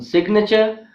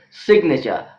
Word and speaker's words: signature: But in signature, I is not giving a long vowel sound, it is giving a short vowel sound. Therefore, G is not silent in the word signature, but it is silent in sign.